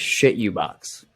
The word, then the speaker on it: CHITUBOX: shit you box. Like wholeheartedly. Well, I mean, come on. Like how else would you not pronounce CHITUBOX? That is shit you box.